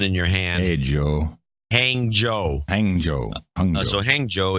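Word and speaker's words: Hangzhou: in China and uh and the pronunciation is hang Joe even though when you look at it you go yeah there's a lot of H and G's and U's in it yeah hang Jo I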